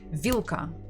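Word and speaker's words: вилка: this one is Ka remember that this l l is hard not will so maybe if it's difficult for you try to be angry and say vilka vilka and you'll get the proper pronunciation we stress the first syllables okay actually after this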